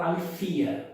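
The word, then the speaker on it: ἀλήθεια: português, no grego koiné, os professores de grego, na língua portuguesa, sempre falam aletheia, mas os gregos falam alethia. Mas tudo bem, vamos manter a palavra mais comum, a pronúncia mais comum no Brasil, aletheia.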